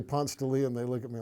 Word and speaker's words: Ponce de Leon: you're a native Georgian is that you can pronounce it correctly you don't say Ponce daily no no people when I say Ponce de Leon they look at me like and I speak